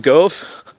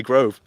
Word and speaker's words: Gove: Gove. See, I have to put on another accent to say his name properly. Otherwise I say Grove.